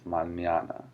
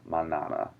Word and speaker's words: mañana: It's mañana, not manana. It doesn't sound like banana, even though it's spelled almost the same.